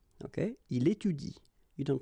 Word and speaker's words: étudie: pronounce it like il étudie. Okay? So the last thing that you will pronounce will be the vowel I here. Okay? Il étudie.